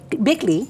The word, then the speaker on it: Bikle: And with us today to talk about this wondrous growth is logistics specialist Kanani Bickley. Is that how you pronounce it? Yes. Bickley? Yes. Kanani Bickley, and the beautiful Paul Beasley, who I know, who is our community engagement specialist.